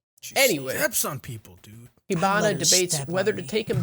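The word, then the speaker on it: Hibana: being held he not is it hinaba i feel like i've been saying it wrong the whole time ibana i have been saying it wrong the whole time i switched the two it's like hibachi but honestly i just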